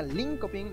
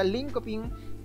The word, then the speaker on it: Linköping: Da un'altra parte, un'università svedese chiamata Linköping, l'università Linköping, penso che si pronunci così, la Linköping, perché ha la diéresis, le due puntini sopra la O.